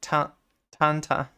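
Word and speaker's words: Tintin: 10 10 a taunt how is it pronounced in French it's like Tanta there's a new 1010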